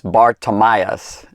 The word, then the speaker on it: Bartimaeus: means son of and then it's tamias tamias Bartimaeus is how it's pronounced and this this dude by the way